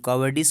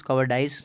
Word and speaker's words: cowardice: Bravery जो शब्द आया है बहादुरी, इसका एंटोनिम बनेगा कवर्डिस, COWARDICE, कवर्डिस, कवर्डाइस, दोनों शब्द प्रोनाउंसिएशन में चलते हैं।